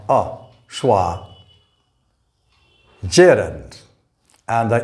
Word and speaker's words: gerund: syllable this word is gerund not jiren the u here represents that short sound ah schwa gerund and the e represents